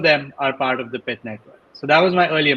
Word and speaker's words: Pyth Network: It's called Pyth Network. I did mispronounce it in the beginning.